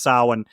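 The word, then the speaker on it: Samhain: We're reading Sam Hayne, but it's it's pronounced Sin.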